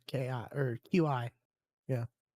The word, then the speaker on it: Qi: So, it's kind of one of those like you got to cultivate your your chi, which spelled with a Q. That's not how I would have said that at all. It's Qi.